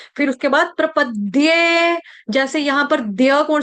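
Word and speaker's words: प्रपद्ये: ऊपर आघात आ जाएगा हलंत द का प्रपद्य प्रपद्य प्रपद्य यह प्रपदे नहीं है इसको गलती से दे मत पढ़ देना पेन दे कॉपी दे समोसा दे रोटी दे फुल्का दे पानी दे दे नहीं है इसको दे नहीं समझेंगे प्रपद्य दे विद्या वाला द उसके ऊपर ए की मात्रा दे प्रपद्य क्लियर आ रही है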